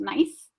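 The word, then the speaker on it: gneiss: rocks such as granite nice which is g-n-e-i-s-s pronounced nice chest and marble so the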